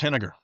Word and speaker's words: Heninger: It's vinegar with an H. So, it's vinegar.